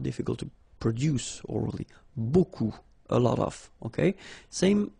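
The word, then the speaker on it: beaucoup: bit strange like that remember you don't pronounce the final P okay and then you get this combination of vowels a and you get the sound o so technically it's B okay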